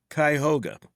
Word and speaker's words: Cuyahoga: And forgive me if I butcher the name of this hospital here. Is it Cuyahoga Falls General Hospital? Cuyahoga.